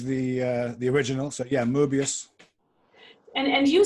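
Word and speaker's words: Möbius: like to use the the original so yeah Mobius and and you say you will see oh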